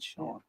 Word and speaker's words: Cian: she spells it CIAN. Yeah. CIAN. Sean. Like the Most Sean's look like it's pronounced scene. Yeah, not her.